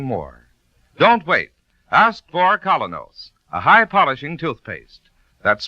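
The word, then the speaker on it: Kolynos: Ladies and gentlemen, Colonos Toothpaste presents Mr.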